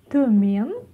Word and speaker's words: Төмен: Төмен, төмен, ударение на е.